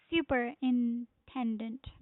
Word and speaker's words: superintendent: In here, the stress is on 10.